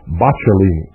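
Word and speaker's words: Boccalini: stari I believe that's bachini I believe that's the correct pronunciation trano bachini A Venetian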